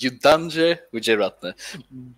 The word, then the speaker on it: Yudhanjaya Wijeratne: pronounce his own name because I would horribly mispronounce it, and that would not be fair. My name is Yudhanjaya Wijeratne, but again, you can call me Yudha.